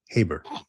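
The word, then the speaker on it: Gaybert: Heybert, pronounced Heybert.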